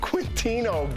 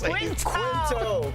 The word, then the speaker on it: Quinto: Coming up on DBL, actor Zachary Quintino gives us Quinto. Why'd you put KW? Quint for quit. KWINTO. They did it phonetically for me, and I still screwed it up.